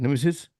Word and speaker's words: Nemisis: is that is that how you say it Nemesis Yeah so basically um so my name is